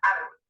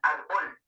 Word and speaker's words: árbol: ¿Dónde lleva el mayor golpe de voz la palabra árbol? Si llevara el mayor golpe de voz en bol, sonaría árbol. Como lleva el acento en ar, suena árbol.